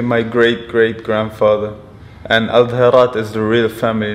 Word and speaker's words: Al-Dherat: So pronounce me again so I can get it exactly right. Al-Dherat.